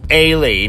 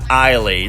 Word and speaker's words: Ailee: I mean, just in case you didn't know, it's Ailee, not Ailee, since in most languages the A-I combination is typically pronounced like an I, but not in this case.